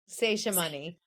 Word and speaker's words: Seshamani: Am I pronouncing that correctly? Seshamani.